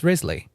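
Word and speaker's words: Wriothesley: It's Rzley. That's how you pronounce his name.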